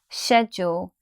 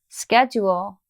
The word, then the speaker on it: schedule: sound all all all this is not a stressed syllable so I don't want you to say schedule wall now let's compare the British pronunciation to the American pronunciation I'm going to say British first American second schedule schedule said your